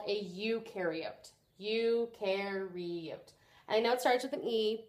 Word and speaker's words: eukaryote: of those with a nucleus is called a eukaryote you can read I know it started with me but you pronounced it with you so you carry it and some students have found that knowing that